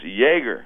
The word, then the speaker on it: Jaeger: Yeah, this is Jaeger. You didn't say. Oh, wait a minute, Jaeger. Jaeger. Oh, as in the beverage. Yes, spelled slightly different though. And not like Mick. This is Jaeger.